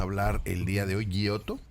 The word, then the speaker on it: Giotto: el día de hoy gioto así se pronuncia gioto eh Y ayer revisando